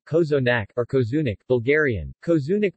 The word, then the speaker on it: cozonac: KO's enact romanian pronunciation kozo nack Arcos unik Bulgarian Kozue